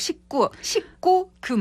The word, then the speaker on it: 식구금: 19금이 아니라 19금. 발음이 어렵죠? 아라비아 숫자 19가 아니라 밥을 같이 먹는 그쵸, 예. 가족 식구금. 예, 예. 먹을 식, 입구, 금요일에 금을 써서 19금.